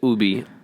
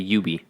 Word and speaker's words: Ubi: why you're saying it you said ooby i say yubi i said ooby butter i was like